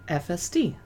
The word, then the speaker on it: Efeste: Efeste is actually FSD because it's the initials of the three winemakers that partnered to make the winery.